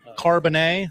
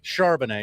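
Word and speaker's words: Charbonnet: Running back Zack uh Carbonet, that's how you say it right. Charbanet. Charbanet. Excuse me.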